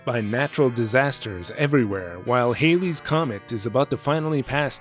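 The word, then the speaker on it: Halley's Comet: I'm going to pronounce it Haley's Comet, by the way, which may not be technically correct, but that's the way I remember everyone pronouncing it when I was young.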